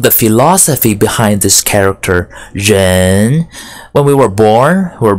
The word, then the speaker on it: 人: Jen Jen means people Jen second tone tongue is second tone from a lower pitch to a higher pitch so this think of the philosophy behind this character Jen when we were born